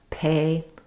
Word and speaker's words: pay: If you have a tendency to say pay or paper without that burst of air put your hand up pay paper really force that air out and at first it'll